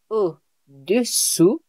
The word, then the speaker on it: au-dessous: You must make attention, be careful with the pronunciation. So for below, it will be au-dessous and above, au-dessus.